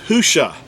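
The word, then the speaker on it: הושע: an accurate transliteration uh the actual word is hushah it's spelled you know it's spelled ha with the letter hey or ha uh and then the shin and the ien it's spelled with four letters and hushah is was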